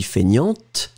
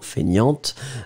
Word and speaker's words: feignante: And feminine form would be feignante, remember. So, masculine, you don't pronounce the T. And then feminine form, you will pronounce it. So, paresseux, paresseuse. And then feignant, feignante.